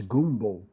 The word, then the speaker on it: gumbo: people don't know that the word gumbo or correctly pronounced is goomo and jambalaya those are congales